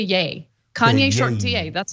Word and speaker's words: Ye: think about it but it's just Kanye shortened to yay Kanye short ta that's how gotta remember except I hate calling him yay like it's Kanye okay